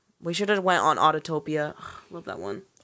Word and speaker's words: Autopia: We should have went on Autotopia. Love that one. Autopia?